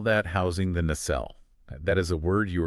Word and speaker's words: nacelle: Yeah, and engineers call that housing the nacelle.